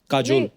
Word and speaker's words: Kajol: बड़ा यूनिक नाम है आपका, काजोल। काजल है ना, but काजल होता है, काजोल हाँ, but मतलब बंगाली में काजोल। बंगाली में ऐसे बंगाली में ऐसे उसका प्रोनाउंसिएशन है पर सर।